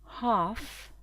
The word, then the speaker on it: half: Et à l'oral, ça va se dire It's half past two. Half, on ne prononce pas le L, past two.